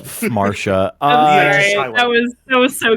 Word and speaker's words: Phmarsha: Yeah, it's Marsha. I'm sorry. That was so goofy of me. I'm sorry. For Marsha. Yeah. So. Oh no, the PH is silent. Just silent.